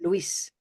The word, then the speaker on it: Luis: How many syllables in Luis? 2 syllables. 2 syllables? Okay, good. And where's the stress? Luis. Luis. Everybody listen and say it. Luis.